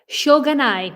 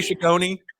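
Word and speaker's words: しょうがない: I'm I'm so embarrassed can you say it for me again shoganai you'll get it right shoganai for some reason I keep want to say Shone I don't know why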